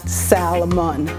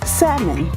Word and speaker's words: salmon: silent it is not salamun it is salmon say it with me se7 not sounding the L is silent that is a pet